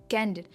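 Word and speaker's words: candid: तरह जो है कैंडिड कैंडिड हम भले के एंड में डी आई डी है हम डिड नहीं कहते यह कैंडिड कैंडिड से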